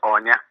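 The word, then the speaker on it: Aine: an Irish name yes an Irish name is pronounced Anya okay on you okay nice name and and the future of darts Darryl jr.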